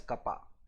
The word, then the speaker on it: kappa: the symbol curved K, which we will be pronouncing it as kappa.